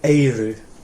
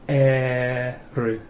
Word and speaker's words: eru: When you say eru, you're tending to say eiru. Okay, and it's just eru.